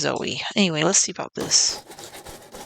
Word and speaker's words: Zoe: No, no, that's Madam Zoe. You know, I used to call Madam Zoe Madame Zo because it looks like that, but no, apparently pronounced Zoe.